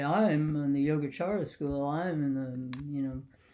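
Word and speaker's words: Yogācāra: what was this oh yoga chara uh spill just like you did a y-o-g-a-c-no h-a-r-a-y-a yoga chara so is the c is pronounced like a ch and the the two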